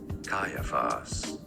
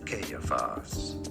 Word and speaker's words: Caiaphas: There are actually two different correct pronunciations as Caiaphas, or Caiaphas.